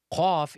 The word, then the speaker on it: ق: Qaf is pronounced from the deepest part of the tongue, so the closest to the throat and the furthest from the mouth.